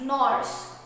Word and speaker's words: gnawers: First is gnawers. Here G is silent, so the pronunciation is gnawers.